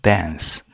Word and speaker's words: thence: From dance. He shall come to judge the quick and the dead. 자, from dance 하면 거기로부터 from dance. 자, dance 할때 th 발음인데요. from dance.